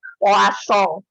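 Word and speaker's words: Poisson: sekarang ada yang namanya puaso nah ini bacanya kayak orang Perancis anak-anak ya roasso bukan voice Sorry ya wasong nah jadi telepon song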